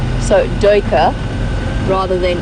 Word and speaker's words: duiker: Now the UI in that particular instance, to the best of my knowledge as an English-speaking South African, in Afrikaans is pronounced oi, so duiker rather than duiker.